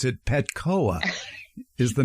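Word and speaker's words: Petchoa: do I pronounce this um and it is pcoa because it's pronounced like calibra COA because yes it is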